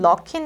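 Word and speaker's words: Luckin: 중국의 루이 씽 커피 여기 영어로는 넣긴 이라고 발음을 하더라구요 그래서 노 이싱 커피가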